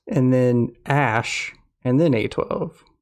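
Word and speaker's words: Æ: it x and then ash and then a12 he says the ae is pronounced ash he said the a12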